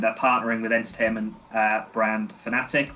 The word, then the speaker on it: Fnatic: So they've invested 7 figures into esports, and they're partnering with entertainment brand Fnatic, which is spelled like Fnatic but without the first A.